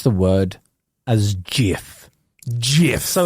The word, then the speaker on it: GIF: pronounce the word as GIF GIF so like it's it's a soft G like you would say I'm going to the gym see that's a g